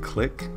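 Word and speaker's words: Clique: It works really well with Click, spelled with a Q, Q-U-E.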